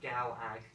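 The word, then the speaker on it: Gallag: So Galag. Like, Gulag, but G-A-L-L-A-G.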